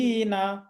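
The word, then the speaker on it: خالدين: খ জবর খ, খা বলা যাবে না। জি, খালিদিনা খালিদিনা।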